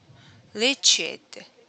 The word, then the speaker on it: reached: Reached. Reached. Ah, Reached. okay. Reached. No chid sound at the end.